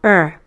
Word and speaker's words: Ur: plants it started in a place called ER which rhymes with fur ruled by people called